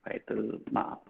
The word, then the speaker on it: Baitul Mal: Mal bukan mal tempat dolan ya. Ma'al artinya itu ya. Bacanya. Baitul Ma'al.